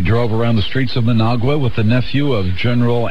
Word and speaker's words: Managua: And it rhymes with Nicaragua. Managua.